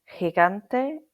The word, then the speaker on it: gigante: So before E or I, G is like a breathy English H. like the h sound at the end of the Scottish word lo like a examples are meaning people and gigante meaning giant before a o u